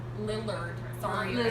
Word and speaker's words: Lillard: Lillard. Sorry. if I said it Lizard.